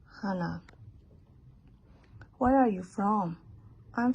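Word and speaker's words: Hanneh: It's spelled H-A-N-N-E-H. It is pronounced as Hannah.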